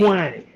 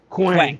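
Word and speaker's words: Kwang: What's the proper pronunciation of this name? Quang. Quang. K W A N G. Quang.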